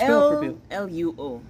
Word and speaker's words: Luo: we spell that just l u o okay lu lu lu Yes again I need to pronounce it correctly luo the Lu came from